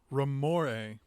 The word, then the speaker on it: Ramoray: Ramore. Ramore. That's what Robert Alter says. Dr. Drake Ramore would be the pronunciation.